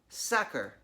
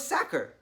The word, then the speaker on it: Sachar: pronouncing his name wrong it should be pronounced sucker like someone who tackles quarterbacks or stuffs potatoes into sacks a sacker Lewis sacker Louis sacker mr.